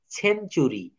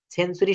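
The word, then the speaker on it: century: অর্থাৎ শব্দে টি থাকলে টি এর পর ইউ থাকলে টি এর উচ্চারণ হবে চ এর মতো টি এর উচ্চারণ কিসের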